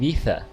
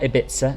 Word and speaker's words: Ibiza: oh yes it's definitely it's in spanish it's more like ether it's not ibiza it's not ibiza or anything like that it's uh it is